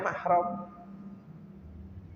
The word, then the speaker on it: mahram: sudah menjadi kebiasaan ya yang sering diucapkan oleh Kebanyakan orang yang namanya muhrimnya disebut dengan tapi secara bahasa Arab yang betul mana yang mahar gitu jadi pengucapannya mahram ya pengucapan yang betul dan tulisan yang betul